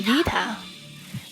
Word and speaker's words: Vita: You can still call me Vita. The V is pronounced by biting lightly on your lower lip, while the Ta, it requires flicking your tongue against your teeth.